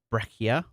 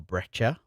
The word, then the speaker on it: breccia: And then we've also got the breccia or breccia, depends on how you say it, which I really strongly advise, Stu, whenever you're ready.